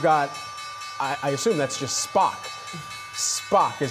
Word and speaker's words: SPOC: And then additionally, you've got, I assume that's just Spock, SPOC is how we're going to pronounce that today.